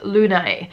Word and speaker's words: Lunaè: decided to go with Lunaè. So I call it Luna, but it's spelled Lunaè, and it's to me the perfect mousy grey.